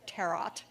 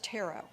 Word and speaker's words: tarot: The T on the end is silent. It's not tarot. It's tarot because it's French.